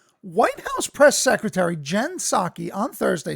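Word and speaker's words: Psaki: this name jen her name's jen right jen jensocki i had to like look up her name because i didn't know how to pronounce it but apparently it's sake from gen saki biden honoring and valuing indians by saying they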